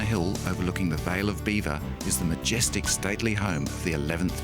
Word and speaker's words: Belvoir: Once the site of a Norman castle, it takes its name from the French Belvoir, meaning beautiful view. The English didn't like the French association, so they changed the pronunciation to beaver.